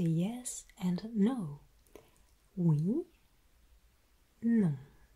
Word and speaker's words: non: Oui, non. And there we raise one of the main aspects of French pronunciation that relates to nasalization, meaning you will have to pronounce this sound through your nose.